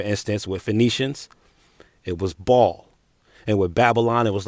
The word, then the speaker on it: Baal: is spelled b-a-a-l and I know a lot of times I'm tempted to pronounce it bail or Baal which is other pronunciations of it but they have another uh pronunciation of it too pronunciation of it that that reads ball just like ball just like the Jim Jones song balling ball to ball and this translates to